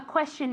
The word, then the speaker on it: question: Okay, remember that the pronunciation of question is as if it had, como si tuviera SH realmente. Question, question, okay?